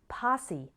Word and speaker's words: posse: often with violence now in those seven words we just practiced the final e sounded like e recipe posse sesame but in the next